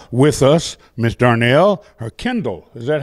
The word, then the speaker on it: Kendyl: So we're so grateful today to have with us Miss Darnell, or Kendyl.